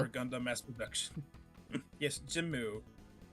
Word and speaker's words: GM: That is how it's pronounced, but it is It's an pronounced acronym. It stands Jimu. for Gundam Mass Production. Yes, Jimu.